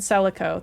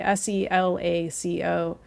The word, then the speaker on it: Selaco: That's with an S, by the way, Selaco. I know that we have a thing about names here, but I think that one's okay, even though it is a fictional word. It's spelled like it sounds, and it's fun to say.